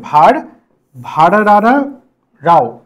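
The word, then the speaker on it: ভারভারা রাও: 2008 সালে ভারভারাও কবিতা ভার ভারভারাও ভালো করে উচ্চারণটা করবে ভার ভারারা রাও কবিতাম খুব সুন্দর নামটা তেলেগু ভাষার কবিতা ভার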